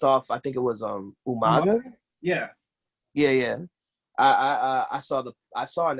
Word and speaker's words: Umaga: Like William Regal would always call him Umanga. Oh yeah. Yeah. And his original manager Armando Alejandro Estrada always would say his name Umaga. Haha. And it was always the haha was always attached. Like, yeah, I know it's Umaga, but everyone who was